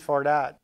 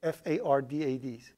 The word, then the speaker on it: Fardad: It's difficult to, like, when I'm speaking in English, I pronounce my own name wrong. I say my name is Fardad, which is absolutely wrong. Okay. My name is Fardad. Okay, Far. Dod, so F-A-R-D-A-D.